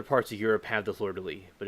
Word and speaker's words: fleur-de-lis: um the flower of New Orleans is the fleur-de-lis in the flower of France and also England